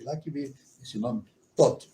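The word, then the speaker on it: Thoth: Um outro termo em seguida ao Torá, ensinado pela Blavatsky, é justamente o nome Tot. Como é que se escreve?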